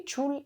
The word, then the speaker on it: Trulli: So, look at the houses, the Trulli houses, and would it be Trulli? I think it's like Trulli. Tell me if you're Italian, is that how you pronounce it?